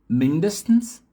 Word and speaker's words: mindestens: Interessante que a sílaba tônica muda, ó. A primeira tá aqui no início, mindestens, no i. A segunda palavra aqui tá no i também, ó, só que na outra sílaba, né? Zumindest. E na última palavra tá no comecinho aqui na letra e, ó, wenigstens.